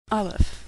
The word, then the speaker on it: aleph: Aleph, which is silent, or some would say makes the sound before the A in apple.